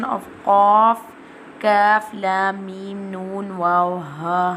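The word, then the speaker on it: كاف: Kaf pronounced from the root of the tongue touching the hard part of the palate, top of the mouth, like this. Kaf.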